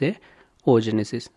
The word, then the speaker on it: oogenesis: and mitosis and meosis ogenesis in some places I pronounced as a oogenesis please consider it as a o Genesis before move forward I